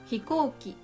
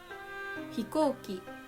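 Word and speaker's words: ひこうき: and tanki is weather number three middle high examples are hikoki hikoki tamago tamago hikoki means airplane and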